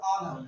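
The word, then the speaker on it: honour: अब देखो हॉनर होना चाहिए था ये, और इसको क्या बोलते हैं? ऑनर। क्या बोलते हैं? ऑनर। बोलो ऑनर।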